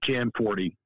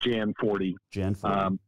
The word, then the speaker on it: Gianforte: to ask so your facebook says it's pronounced john forte what's the correct pronunciation of your last name so the americanization of it is uh jan 40 which is what is the easiest thing jan 40.